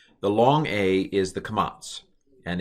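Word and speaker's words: קָמַץ: The long A is the kamats, and it's basically a little T written under the consonant. And that's the long A, kamats, pronounced ah.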